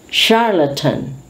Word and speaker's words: charlatan: we continue with the presentation of ch with the sh sound again very very common words we often use so we have to be careful with the pronunciation charlatan charlatan everybody knows this a